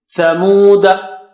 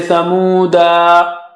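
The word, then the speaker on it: ثمودا: Here we have alif at the end with circle on the top, so just zero it, forget it. Thamuda, don't say Thamuda. That alif is not alif mad, it is zero.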